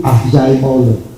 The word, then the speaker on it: Acemoglu: Dan kalau tadi saya bilang Acemoglu itu sebetulnya pronunciation yang benar tuh Acemoglu.